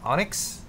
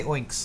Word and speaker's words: Onyx: How do you pronounce Onyx? Onyx. Onyx. I always want to say Oinks, like a pig.